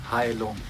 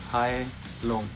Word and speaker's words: Heilung: Hi, my name is Kai-Uwe Faust, and the name of my band is Heilung. Heilung.